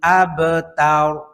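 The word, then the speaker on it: الأبتر: আকাহুয়াল আকাহুয়াল আব তার আব এখানে কলকলা আছে আব তার আবতার ইন্নাশানি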